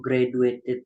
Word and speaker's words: graduate: Miss, kalau graduated sama graduate itu gimana, Miss? Oh, sebentar. Graduate, cara membacanya itu pakai J ya, bukan pakai D.